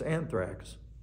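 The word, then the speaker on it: ἄνθραξ: why that is but it's anthrax well that's the Greek pronunciation I don't think I'm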